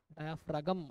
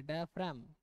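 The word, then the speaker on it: diaphragm: या डायफ्राम डायफ्रागम ऐसे मत पढ़ना। ये गलत है। डायफ्राम जी साइलेंट है।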